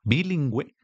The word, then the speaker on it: bilingüe: Siempre que ves eh esta u con estos dos puntos, sabes que tienes que pronunciarla. Entonces, cuando ves escrito pingüino, cuando es escrita la palabra bilingüe, sabes que se pronuncia así.